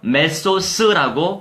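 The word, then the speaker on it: μέσος: 자, 이 사이에라고 하는 거는요, 메소스라고 발음합니다.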